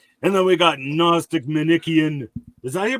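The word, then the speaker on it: Manichean: then we got Gnostic manikian is that here pronounce that manikan is how I heard it pronounced from James White and I assume he's correct well he's always correct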